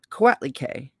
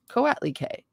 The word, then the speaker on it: Coatlicue: The soul's needs are governed by Coatlicue. Is that what I just said? Coatlicue? Coatlicue.